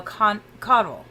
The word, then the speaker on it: Caudle: It's Caudle. But it's like candle, but you turn the N over, make a U out of it. Okay. So Caudle. Caudle, yeah. Caudle. Perfect. So Richard Caudle, everybody.